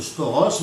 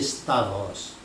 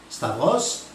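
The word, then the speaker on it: σταυρός: du temps il prononce Storos mais en grec sachez que la bonne prononciation c'est Stavros Stavros le mot Stavros est-il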